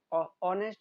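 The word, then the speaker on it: honest: फिर ऑनेस्ट, ऑनेस्ट इसको हॉनेस्ट नहीं बोलते, इसमें भी एच क्या होता है, साइलेंट होता है।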